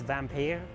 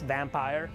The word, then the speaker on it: Vampyr: telling you in vampire I don't know if that how it's pronounced I think it's vamp here well it's vampire every action you take